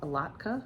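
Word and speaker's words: latke: A lotka. A lotka is how you say it.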